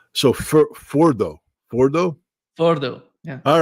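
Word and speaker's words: Fordow: Firdos.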